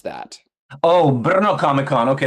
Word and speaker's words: Brno: How do you pronounce that? Oh, Brno Comic Con. Okay, Brno.